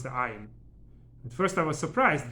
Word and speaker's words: ayin: They know how to pronounce the ayin, a strong sound. You know, it's not just a vowel. Most Ashkenazi Jews, European languages, don't have an ayin in them. So most Ashkenazi Jews just pronounce it as the vowel of it.